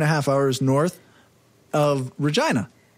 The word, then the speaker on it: Regina: half hours north of Regina it's Regina no rhymes with vagina China when I went